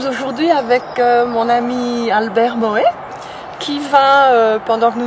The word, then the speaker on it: Moxhet: Tu dis Albert Moët alors que ça s'écrit XH, comme de Xavier.